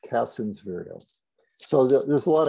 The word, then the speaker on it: Cassin's: white guy probably from england c-a-s-s-i-n apostrophe s cassin's virile so there's a lot of castings this